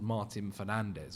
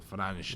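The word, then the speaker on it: Martín Fernández: A guy called Martin Fernandez or Fernanch depending on what pronunciation you want to do.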